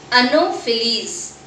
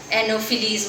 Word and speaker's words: Anopheles: What is the pronunciation of this? Anopheles.